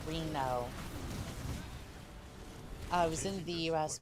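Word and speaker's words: Renault: Oh, it's pronounced Reno.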